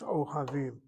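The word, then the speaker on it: אוהבים: The He is the original letter. You cannot take a shvanah in its place, a replacement with a chataf. O havim. That explains why it's O havim.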